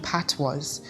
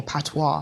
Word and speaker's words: patois: And, correct me if you believe that I'm wrong, but I think the language of patois should be, or patois, however you prefer to pronounce it.